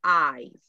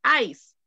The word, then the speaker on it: eyes: Escuche la pronunciación de el hielo o el hielo, como decimos los salvadoreños. Mire, eyes. Eyes. Ojos, eyes. Como que tiene un zumbido.